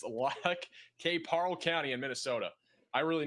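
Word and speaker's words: Lac qui Parle: This is going to be for Yellow Medicine and I find the pronunciation. It's L K. Parl County in Minnesota.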